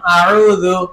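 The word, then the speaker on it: أعوذ: উচ্চারণ করেন আ উু আ উদু এবার একসাথে উচ্চারণ আউজু আউজু আউজু আউজু আউজু আউজু চতুর্থ কাজ বানান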